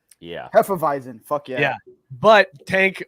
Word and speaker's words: Hefeweizen: How do you pronounce this in German? Hefeweizen. Yeah. Hefeweizen.